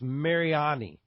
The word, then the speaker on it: Mariani: I got to correct you. It's Mariani.